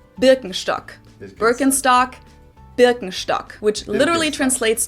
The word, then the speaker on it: Birkenstock: like if you talk about something typically German Birkenstock is definitely going to be mentioned but of